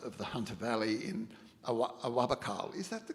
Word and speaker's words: Awabakal: But at sort of near the mouth of the Hunter Valley in Awabakal, is that the correct pronunciation? Yeah, Awabakal country.